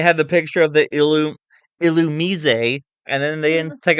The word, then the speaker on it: Illumise: So the problem is people thought it was like Illumise, Yeah. but it's Illumise.